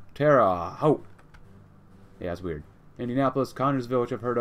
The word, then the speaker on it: Terre Haute: That's how you pronounce Terre Haute. It's like Terre Haute, Terre Haute.